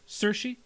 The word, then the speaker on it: Saoirse: How do you pronounce her name? Saoirse Ronan. Saoirse.